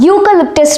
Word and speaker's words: eucalyptus: For example, the eucalyptus tree. In this particular example, in the particular word eucalyptus, it starts with the vowel E but the pronunciation belongs to the consonant Y.